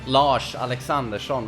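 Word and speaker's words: Lars Alexandersson: Swede swedish ikea meatball lars or loss alexander shown that's actually the proper pronunciation those of you main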